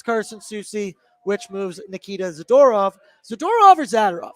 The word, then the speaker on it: Zadorov: But one man who's going to be back, it's Carson Soucy, which moves Nikita Zadorov.